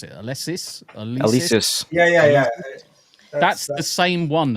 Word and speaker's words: Alesis: Is that an how do you pronounce it? Alesis? Alesis.